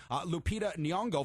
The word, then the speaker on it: Lupita Nyong'o: Best Performance by an Actor in a Supporting Role, so Best Supporting Actress, Lupita Nyong'o for 12 Years a Slave. And then we got the pronunciation we right.